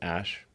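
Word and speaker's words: Æ: x um and then the ae is like pronounced ash yeah and then uh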